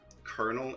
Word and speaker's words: colonel: Same with colonel. The reason colonel is spelt and pronounced different is we kept the, if I remember right, the English pronunciation and French spelling for some reason.